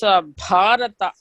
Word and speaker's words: Bharata: You must pronounce Bharata. Bha Mahaprana. There is a red letter, no?